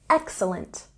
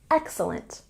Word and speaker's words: excellent: of saying very good say excellent with a stress on the first syllable excellent excellent the food was very good